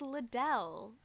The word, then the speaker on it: Liddell: disheveled self up here i do think it's liddell isn't it an emphasis on the second syllable oh uh i once